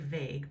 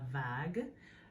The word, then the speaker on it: vague: And it looks like vague, but it wouldn't be pronounced like that. La vague.